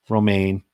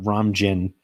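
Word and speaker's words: Romijn: It's Rebecca Romaine Stamos. And Steve had pronounced it Rebecca Ramjin Stamos.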